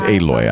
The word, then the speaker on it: Aloy: Oh, it's Aloy. I mispronounced it.